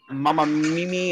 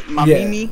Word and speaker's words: Mamimi: It's like Mama Mimi or something. Mamimi.